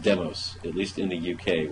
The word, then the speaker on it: Demos: New York City which is which is properly pronounced demos at least in the UK where it originated